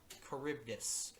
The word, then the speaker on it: Charybdis: Storius makes the, how do you pronounce that? Charybdis.